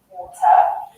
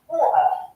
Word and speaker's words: water: So you can hear a glottal T in words such as water. So that's a true T where I'm pronouncing the T, water. But with a glottal T, we would say water.